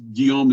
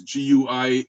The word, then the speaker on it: Guillaume: william defey but it's guillaume is g-u-i-l-l-a-u-m-e guillaume that's the way it's pronounced guillaume de fey was